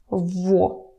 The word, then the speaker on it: его: in adjectives in genitive, you just pronounce it as vo. Vo. It dates back to ancient Russian, to the old days of the Russian language, and actually other Slavic languages, they still have pronunciation with g or different modifications of g. But Russian changed over time, and for some reason we have one thing in writing, but different thing in speaking.